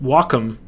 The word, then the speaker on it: Wacom: to properly use a walam Tablet wome Yes That's how you pronounce it I called and I